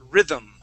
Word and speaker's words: rhythm: so we're gonna uh when we pronounce this word okay um we're gonna go to that th sound and then it's like when we suck our tongue back in our lips immediately close that's how we pronounce that M so we're gonna say